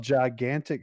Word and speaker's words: Jaigantic: It's called Gigantic Studio but it's spelled Jaigantic.